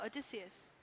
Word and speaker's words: Odysseus: That name, I love it, Odysseus.